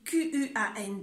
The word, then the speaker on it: quand: Comment prononcer QUAND et QUANT? C'est facile. Quand, tout simplement.